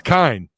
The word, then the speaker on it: Kine: Is it Kine love or his Kenny? It's Kine, right? Oh, I've been calling him TJ Kenny for like a year. I've heard him pronounced like 3 different ways.